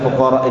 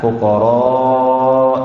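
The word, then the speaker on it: فقراء: innamas shadaqatu lil fuqara, membaca fuqara itu dengan pendek. Beliau mencontohkan bukan seperti ini Rasulullah SAW membacanya kepada kami. Kemudian beliau praktekkan dan yamuddu sautahu, kemudian dia panjangkan suaranya pada kata fuqara wal masakin. Ro dipanjangkan.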